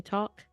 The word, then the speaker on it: tack: Thank you in English. You say talk. Oh, talk. Oh, okay. Thanks sounds like talking English. Okay, so it's like talk.